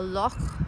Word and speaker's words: Loch: everyone realizes in Scotland so a lot is just how they say it here the CH has that sound it's kind of like